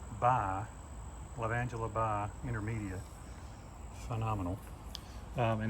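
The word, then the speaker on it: Lavandula × intermedia: a hybrid like a cross between so it's pronounced by love angela by intermedia phenomenal and it's called phenomenal because it is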